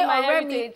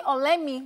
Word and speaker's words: Oremi: So they can't say Oremi. Oremi is in Yoruba is friend, my friend. Just when they say Oremi, they say Olemi because that's how they say it.